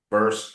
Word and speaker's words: verse: So verse, I believe in it rhymes with the word hearse, Hearse, right? yeah. Verse, hearse, right?